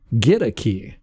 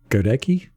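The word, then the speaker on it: Goedeke: is offensive right yes spell g-o-e-d-e-k-e but it's pronounced get a key i was saying luke godeki i had heard it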